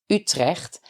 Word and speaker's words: Utrecht: to go to utrecht maybe you will pronounce it as utrecht when you read it but it's utrecht you will walk along the